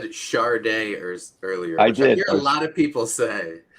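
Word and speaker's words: Sade: also said Charday earlier. I Which did. I hear a lot of people say. Well, it's funny. Columbia fucked that up because on their Charday. first album it says pronounced Char day, and they fucked it Yeah.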